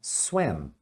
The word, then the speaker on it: swam: Então é swam. Um detalhe na hora de você pronunciar, esse M você deve falar swam, fechando a boca, tá?